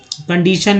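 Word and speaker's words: condition: उसके बाद कंडीशन में जो है TION है, ये देखिए TION को सन क्यों पढ़ते हैं?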